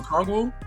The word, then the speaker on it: Okongwu: You call Okongwu? Yeah, Okongwu. I can't pronounce the name.